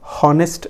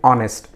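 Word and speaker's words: honest: Word pronounce करते हैं हम लोग हॉनेस्ट नहीं कहते हैं, ठीक है, एच साइलेंट है, हम कहते हैं ऑनेस्ट।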